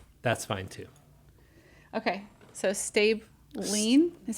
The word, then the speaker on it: Stablein: stablein stabling how do you say it George stay blind stay blind listen we're we're so dysfunctional my own family argues how you pronounce our last name that's awesome we'll go with stab line now there's somebody on here that I know